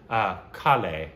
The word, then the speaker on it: Kale: singer in the same tier as Mahesh Kale, pronounced Kale.